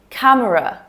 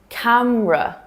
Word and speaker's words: camera: Number two, camera, camera. 3 syllables? No thanks, not for native speakers. So here we drop the middle part, and simplify it to camera.